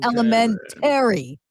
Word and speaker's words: elementary: Binghamton, New York, and they pronounce elementary. We say elementary. They pronounce it the way it is spelled. It is elementary. And they're like the emphasis is on the A-R-Y.